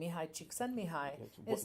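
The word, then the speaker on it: Mihaly Csikszentmihalyi: flow pioneered by an Eastern European thinker named Mihai cheek send me hi well done with that pronunciation try to skull prints it's the equivalent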